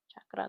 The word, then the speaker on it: chakra: chakra. That's how you say it. That's how you properly say it.